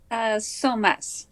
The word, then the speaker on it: Psomas: Psomas.